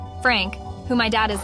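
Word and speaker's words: Pfrank: he spells it p-f-r-a-n-k apparently the p is silent Frank who my dad is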